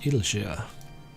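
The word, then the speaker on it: Idyllshire: In any event, our first order of business is to rendezvous with Ishtola in Idleshire. I am having to force myself to pronounce it Idleshire.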